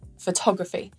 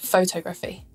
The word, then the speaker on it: photography: comes at the end of a noun the syllable before it is stressed photography not photography cryptography not cryptography and calligraphy not calligraphy so